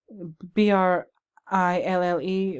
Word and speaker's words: brille: It's called, I hope I'm not pronouncing this incorrectly, but brill or brille, B-R-I-L-L-E. With French, the double L is pronounced kind of like a Y, brille.